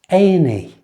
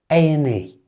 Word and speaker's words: A&E: A&E. Listen to how I pronounce that. A&E. Just like before, I've changed the and to a simple n sound. A&E.